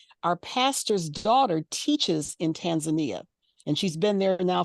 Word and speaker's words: Tanzania: is it Tanzania or is it Tanzania it's Tanzania that's the correct pronunciation Tanzania okay all right the reason why